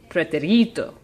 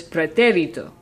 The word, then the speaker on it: pretérito: But that pronunciation would be preterito. And the word is preterito. So, what do I need to do? I need to indicate that the emphasis is on the third to last syllable.